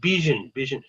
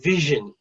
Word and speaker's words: vision: The pronunciation sounded like B was being used, so it sounded like vision. So it should be vision.